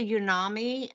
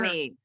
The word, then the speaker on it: umami: They say it's a unami. Unami, is that how you say it? Do you guys know what unami is in cooking? Unami is truffles have unami. So you have your Umami.